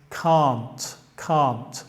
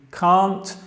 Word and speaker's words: can't: Ahora, antes que sigo, debería decir que hay una diferencia en la pronunciación entre can't en el inglés británico. Yo soy británico y digo can't, y la misma palabra en el inglés americano.